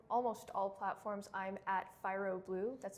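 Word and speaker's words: Phyro Blue: So on almost all platforms, I'm at Fyro Blue. That's spelled P-H-Y-R-O Blue.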